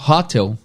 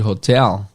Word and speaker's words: hotel: E hotel também, a mesma sílaba tônica do português. Em português a gente fala hotel, em inglês é a mesma coisa, hotel. E o que acontece é que muitos brasileiros falam hotel em vez de hotel.